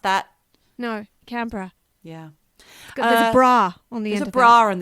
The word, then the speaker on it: Canberra: canberra don't pronounce it canberra it's not pronounced that no canberra yeah there's a bra on there's a bra on the end exactly yeah what else